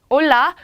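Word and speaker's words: Hola: 같아요 얼라 이렇게 있죠 올라 왜냐구요 아예 앞에 이는 아체 라고 하는 이 알파벳이 묵음 이기 때문에 얼라 올라 이렇게 인사를 해 주면 됩니다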